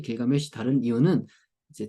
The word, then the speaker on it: 길가메시: 됩니다 우피 우피 t 길가메시 길가메시 다른 이유는 이제 저는 길가 메시로 발음하는데 이제 앤드류 조지 번역하신